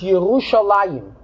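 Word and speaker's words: ירושלים: And the Rebbe says, interesting, if we notice carefully how we pronounce the word, we pronounce Yerushalayim. The Lamet has a patach. The Yud has a chirik.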